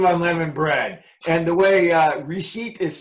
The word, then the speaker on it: Reshit: And the way Reshit is spelled, you all understand why I turned that over to Harold.